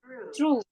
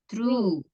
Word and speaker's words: true: Ya ini cara bacanya Yang Pertama O nya 2 itu dibaca u true true agak panjang UU nya itu agak panjang true Coba deh true